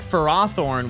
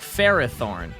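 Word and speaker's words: Ferrothorn: Ferthorne is based on Ferris and Thorn, but the anime pronounces it like Ferothorn, which doesn't sound right, and it should be pronounced like Ferrathorn.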